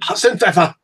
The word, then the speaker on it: Hassenpfeffer: Hassenpfeffer. Hassenpfeffer. Yeah, I got a little, I don't know. Yeah, Hassenpfeffer. So, and that's how you say it. Like the Hassenpfeffer. The prefix of that is my name.